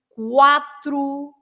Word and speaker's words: quatro: with a QUO, but if you have a QUA and you have lots of them, then you pronounce the U. Like, for example, in quatro, quarta-feira, quanto, etc.